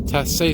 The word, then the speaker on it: Tassé: And this is O'Brien and Tassé, or is there an accent on the E? Yeah, so this is Tassé Street, Rue Tassé, and the airport would be in that direction, which is west.